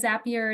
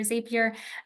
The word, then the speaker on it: Zapier: kind of intermediary like a Zapier or Zapier, depending on how you say it.